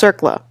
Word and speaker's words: CERCLA: Response, Compensation, and Liability Act, CERCLA, which is pronounced CERCLA.